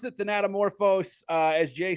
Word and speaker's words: Thanatomorphose: I pronounced it Thanatomorphose.